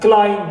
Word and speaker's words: climb: Climb, B is silent.